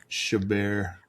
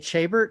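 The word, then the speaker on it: Chabert: I'm a big Lacy Shabar. I always I always pronounced it Chabbert. I never thought it was like French.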